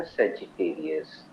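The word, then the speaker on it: Sagittarius: उसका उच्चारण है सेजिटेरियस।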